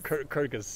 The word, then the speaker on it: Kyrgyz: And she's, how to pronounce it correctly? Kyrgyz. Kyrgyz.